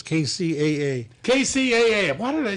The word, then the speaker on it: KCAA: chair i don't know i i said cca sorry mark i i didn't mean to say it like that sorry frank kcaa those